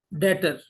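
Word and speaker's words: debtor: number ले सकते हैं तो डेटर डेटर्स में जमा इस्तेमाल करता हूं बी साइलेंट इसका याद रखिएगा डेटर जो है वो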